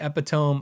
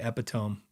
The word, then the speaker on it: epitome: see uh David says Ron Ellis is the epitome of Secret Sauce marketing you know before I say anything else I'm just impressed that I could say epitome because phonetically this that stuff makes my brain